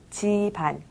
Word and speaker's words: 집안: 집안은 쓸 때는 집안이라고 씁니다. 하지만 발음할 땐 지반이라고 발음하죠. 지반에 신경쓰면서 한번 말을 해보겠습니다.